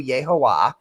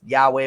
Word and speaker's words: Yahweh: point in Liber O, Crowley says you do Yehovah, which, Jehovah, it's not really right. It's Yahweh with the ballpoints for Adonai.